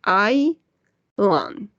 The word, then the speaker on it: island: to make emphasis on the pronunciation island we're going to say i lan vacancy island caretaker what